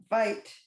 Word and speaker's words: Vite: um and uh Vite Vite is that how you pronounce it V or vit V vit vit vit right okay so I wasn't sure about that uh French yes that's why I asked I assumed it might be French but then you know